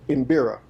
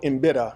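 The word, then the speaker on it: mbira: originated in Africa um from an instrument called imira or imida is how they say it it's MB R A and it origin originated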